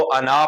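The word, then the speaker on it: أَنَا: नहीं है कि हम इसको अना पढ़ें। अना क्यों नहीं पढ़ रहे, आना क्यों नहीं पढ़ रहे? भाई यही समझ लें कि जैसे इंग्लिश के अंदर नॉलेज का लफ्ज जो है इसके अंदर के साइलेंट हो जाता है, ठीक है। इसी तरह यहां पर ये अलिफ साइलेंट है, अलिफ नहीं पढ़ा जाएगा।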